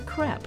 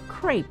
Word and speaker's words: crepe: Stefan's contribution is the crepe, or crepe recipe, as some Americans pronounce it.